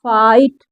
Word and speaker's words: fight: आगे देखिए FIGHT फाइट, ठीक है।